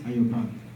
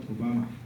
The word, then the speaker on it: Ayobami: My name is Ayobami, pronounced Ayobami, not Obama.